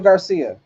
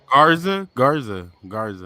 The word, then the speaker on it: Angel Garza: The little like the Spanish dude, Angel Garcia. It looked like it looked like they starting to go with Bad Bunny and Angel Garcia. You know, Garza.